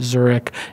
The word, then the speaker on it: Zurek: Co / at Zurich zu r EK like the city pronounced like the city spells lolita yes zurich